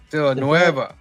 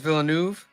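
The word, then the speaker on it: Villeneuve: Villa Noeva. Yeah, he's right. was written by Eric Heiser and Ted Xiang is Villanuv.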